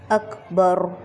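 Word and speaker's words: أكبر: لفظ ہے ہمارے پاس، کیونکہ یہاں پہ باریک کاف ہے تو ہم اس کو اکبر، را کو موٹا، تو یہ بن گیا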